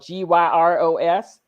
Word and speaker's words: gyros: little conversation about was one that's spelled g-y-r-o-s that as Americans we call it Gyros we call it a